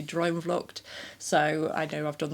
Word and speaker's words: Droomvlucht: I was trying and some lovely commenters have helped me with like drum luck. I was saying it that way. It's actually drum lucked.